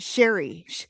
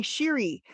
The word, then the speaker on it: Siri: She She was trying to talk to Siri on her iPhone, and she kept calling it Sherry. Hey Sherry. Hey Siri. She couldn't say it right, and she did clip that into two little shorts, and it is the funniest thing ever.